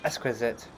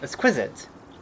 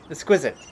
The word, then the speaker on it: exquisite: [incorrect pronunciation] Exquisite chest. Exquisite. Exquisite.